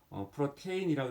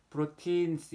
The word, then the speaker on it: protein: 자, 그 다음에는 이제 단백질인데 단백질은 이제 영어로 프로틴이라 해가지고 PROTEIN 해가지고 프로테인이라고 읽을 수 있지만 요 TIEI가 이제 발음이 장음이어서 프로틴스 이렇게 길게 읽어요.